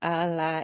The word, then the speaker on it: Ala: Ala Oh, you would Iao. say like Allah, like Allah, they say.